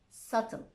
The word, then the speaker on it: subtle: There are also a few words in which the B is silent before the letter T. Okay, these words are that, doubt, subtle.